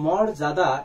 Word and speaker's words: মর্যাদা: উচ্চারণের ক্ষেত্রে মনে রাখবে রেফ যেখানে থাকে সেখানে র হবে। কি হবে বলতো? র। আর উচ্চারণের ক্ষেত্রে অন্তর্জয়ের ব্যবহার নেই সেখানে কি হবে? বর্গীয় যা। তাহলে উচ্চারণটা এখানে কি হবে বলতো? মোরজা দাদা। কি হবে? মোরজাদা। এটা হবে উচ্চারণ।